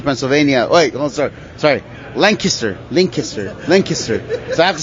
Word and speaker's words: Lancaster: school over there, and I just moved to Lancaster, Pennsylvania. Wait, sorry, Lancaster.